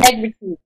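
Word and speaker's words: négritude: Ideas of black consciousness, negrigitu. I'm not sure how to pronounce that because it's only a word I've read and never pronounced. And so it's called negritude. Negritude.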